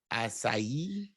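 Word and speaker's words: açaí: strawberry lemonade acai okay did i say it right i don't know i don't i'm not that sounds right it sounds i mean it sounds magical yeah that sounds right it's not a k i'll tell you that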